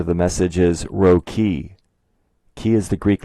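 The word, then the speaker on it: chi: as you can see the letter X in Greek spelled c-h-i is pronounced k-i the way it's spelled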